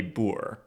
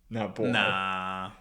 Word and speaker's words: Boer: The The correct pronunciation might be Boer. Not bored.